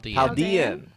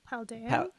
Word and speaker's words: Paldean: Paldean. Like Chilean. Paldean. Paldean Wooper.